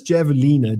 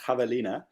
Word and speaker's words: javelina: One of Parallel Parking says it's pronounced Javelina, but...